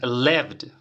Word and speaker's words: lived: En este caso tienes live, la pronunciación live, y luego le agregas la D, pronunciación lived.